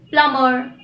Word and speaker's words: plumber: Now for the rule when the letter B is not pronounced when it comes after an M. For example, comb, womb, tomb, plumber, thumb, dumb.